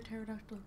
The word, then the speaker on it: pterodactyl: can't you hear a pterodactyl Pete just me cuz I'm not sure cuz the P is silent thought something like that